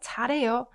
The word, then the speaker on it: 잘해요: This one, also the 히읗 gets muted and you pronounce it like 잘해요.